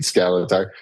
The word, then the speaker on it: Skaletaar: It rhymes with my name, Skaletaar. No one ever knows how to pronounce my last name. Yeah. So I always say it rhymes with salad bar.